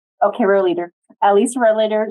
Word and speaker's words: Rohleder: other presenter is Lisa how do you say your last name related letter row leader okay row leader at least we're a